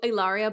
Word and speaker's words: Hilaria: catch her at hilario ellaria baldwin h is silent okay and um amanda